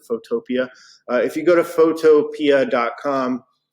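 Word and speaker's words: Photopea: with photo p photopia i think they want you to pronounce it photopia if you go to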